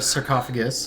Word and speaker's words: sarcophagus: So it's a sarcophagus. Uhhuh. Like an octopus.